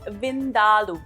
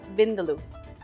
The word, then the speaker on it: vindaloo: And you heard me right, it's pronounced Vindaloo, not Vindaloo.